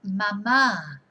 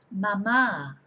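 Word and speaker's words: mamá: madre a mom or mommy is mama with an accent on the second a mama if you don't have an accent you just say mama that is breast or boob even you know so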